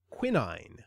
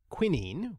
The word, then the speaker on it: quinine: while my first instinct was actually to say Quinn ein and then I thought why am I saying